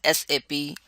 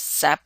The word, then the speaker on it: SAP: and more what is sap is pronounced as sap never pronounced as sap of a tree it is a system application